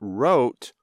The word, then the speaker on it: rote: Yesterday, Jill wrote her name, but wrote, R-O-T-E, is doing or learning something just by repeating it over and over without thinking much or understanding much about it.